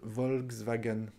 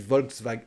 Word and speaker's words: Volkswagen: 9e emma c'est volkswagen alors non divol wolkswagen on prononce pas le cas en français on dit volkswagen volkswagen volkswagen mais on oublie le cas d'ailleurs c'est curieux vrai